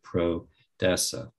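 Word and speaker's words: prodesse: It comes from the word origin of proud, which is a Latin term, and it's spelled P-R-O-D-E-S-S-E, pro-dessa. Pro means for, and essa means to be.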